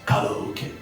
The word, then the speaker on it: karaoke: Where is Oh, another word that people don't like is karaoke. But I prefer karaoke because the Japanese pronunciation is koke.